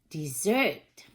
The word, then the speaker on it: Desert: island car mount desert she pronounced it dessert ice cream cookies brownies